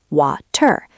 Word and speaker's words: water: In strict pronunciation, wa-ter, but you usually hear water, water. It is not a hard D like dog.